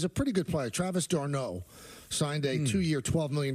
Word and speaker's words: d'Arnaud: And I believe his name is pronounced Darnaud.